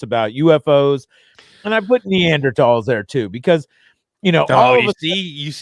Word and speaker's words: Neanderthal: you know you see you leave a silent h in there too don't you neanderthal and yeah you see you said it different the second time yeah the first time you said neanderthal well i said it right but then i had